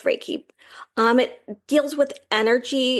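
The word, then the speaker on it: Reiki: to find a local re is it raik raik oh yeah yeah yeah you're saying it right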